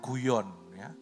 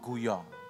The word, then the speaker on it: Guyon: bernama Madame Jonggol Young Bacanya jangan guyon Madam Zhong guyon ini basah frongse bahasa Perancis dia itu